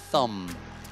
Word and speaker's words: thumb: Thumb, non si pronuncia B finale.